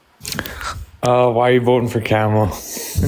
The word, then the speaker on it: Kamala: Why are you voting for Kamala? Her name, first of all, her name's pronounced Kamala.